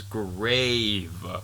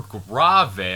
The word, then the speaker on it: grave: I have another tempo for you, and it is grave, or grave. I've heard it pronounced both ways.